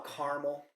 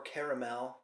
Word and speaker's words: caramel: I get the ale I smell caramel mhm or caramel if you're going to say it right if sweetness was a